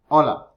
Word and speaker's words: hola: menos remember the letter h is silent you don't say hola you say hola noches como whenever you